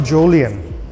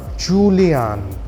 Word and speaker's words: Jolion: electric vehicle have all Julian is not jolian it is pronounced Julian it is it means